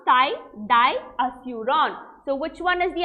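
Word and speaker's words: thidiazuron: naa ty diazeuron so this is how you pronounce thai di aseuron so which one is the answer what is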